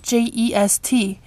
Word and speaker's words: jest: Like just was spelled J-E-S-T, pronounced jest.